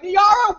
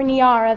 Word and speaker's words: Niara: of my name tags, Niara looks like Niera, Niera, Niara, Niera, Nier, and sometimes trips slowly and uncertainly out of mouths like Niagara, as if I've misspelled my own name without a G.